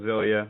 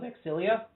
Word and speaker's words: Xillia: Tales of Xillia. Well, I think it's pronounced Tales of Exilia.